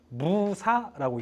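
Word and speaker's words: موسى: 그거를 무사라고 읽습니다. 이런 식으로 다 있어요. 여러분, 아브라함이라고 성경에 나오죠? 아브라함은 뭐라고 읽어요?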